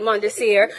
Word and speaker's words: Mondesir: Services Council, and I'm sitting next to Mondesir. Hi. Yes. It's Thank French, you for so having me. you have to pronounce it right, Mondesir, from the Early Learning Coalition.